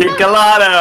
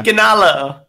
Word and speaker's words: Kikanalo: How do you spell it? How do you say it? Kikalano. I just realized I never said it before. Yeah. Kikanalo.